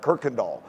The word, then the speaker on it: Kirkendall: So that means I know how to say the word Kirkendall on the street. And if you see what the word, the street Kirkendall looks like, it does not look like it sounds like Kirkendall, but that is how you say it.